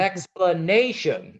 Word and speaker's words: explanation: oh good the set the stress on this word is on the third syllable the stress what yeah it's an explanation it's not explanation or explanation or explanation it's explanation explanation so it's really you